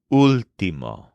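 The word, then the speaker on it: último: UL t m o but with an accent on the first letter Ultimo here's an example I'm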